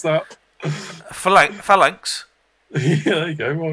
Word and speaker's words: Phalanx: Gonna pronounce that. Phalanx.